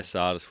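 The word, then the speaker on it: Tsatas: four uh Elijah how do you say it Sardis yeah Sardis went to ESS and who's pick five hasn't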